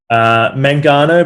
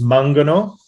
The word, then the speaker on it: Mangano: Mangano? Mangano, but in Italian it's Mangano.